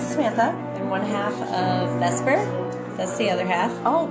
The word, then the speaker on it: Vesper: I'm one half of Vesper.